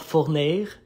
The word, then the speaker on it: Fournier: And I love how you pronounce Fournier in French speaking, because I'm from Quebec. It's called Fournier.